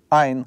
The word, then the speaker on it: айн: Соответственно, если мы не произносим вот этот согласный "айн", как и "алеф", да, в свое время, то мы произносим вместо него гласный, который под ним пишется.